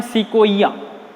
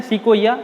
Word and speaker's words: Sequoia: ठीक है, देखो इसके अंदर जिम्नोस्पर्म के अंदर एक बात और है कि एक प्लांट है जिसका नाम है सिकोइया।